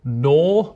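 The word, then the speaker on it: gnaw: They'd say knicht, or they would pronounce the G at the start of nor. They'd say gnor.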